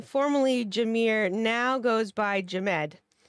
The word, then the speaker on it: Jamed: Anybody that doesn't know, formerly Jamie, formerly Jameer, now goes by Jamed. That's spelled like Ahmed with a J, just if anyone was curious.